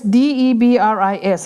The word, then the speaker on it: debris: kan ti chuan debris DEBRIS ania ma say s hi silent language ania so you should pronounce like debris ti tur hi za